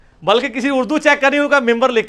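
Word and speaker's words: منبر: बनी हुई है मेहराब मेंबर मेंबर के स्पेलिंग क्या है मिन बर लेकिन पढ़ा क्या जाता है क्यों क्योंकि नून के बाद नून साकिन के बाद ब आरहा है यह नहीं होता लिखा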